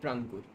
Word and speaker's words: प्रांकुर: Fake name है, it's like प्रांकुर। मेरा जो रियल नेम है प्रांकुर। Sorry? प्रांकुर, real name प्रांकुर। Rangpur. हाँ। Hi Rangpur. I don't know like how to pronounce it. It's like प्रांकुर, normal प्रांकुर।